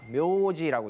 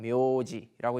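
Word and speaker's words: 名字: 마지막으로 이제 명자, 묘지라고 읽는데요. 이 장음이죠. 묘지라고 읽는데 이거는 이제 그 12세기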